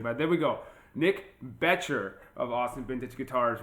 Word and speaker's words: Boettcher: am really excited today to talk to Nick botcher from Austin vintage guitars how you doing Nick pretty good actually it's pronounced beter and that something that happens all the time